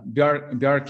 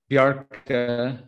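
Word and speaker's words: Bjarke: so speaking of uh bjork ingles bjark i think is how i'm supposed to pronounce it um the and mark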